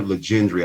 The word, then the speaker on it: Legendre: oliveira and legendre i think that's what we decided we're gonna call you i don't know if we figured out how to say it last night you got it you got it right that'll work um we